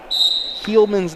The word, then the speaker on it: Heilman: I believe I was pronouncing Heilman's name wrong. It is Heilman.